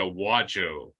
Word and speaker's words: Wajo: It's Wa. Yeah. So and then Joe. So just as it sounds, just Wajo.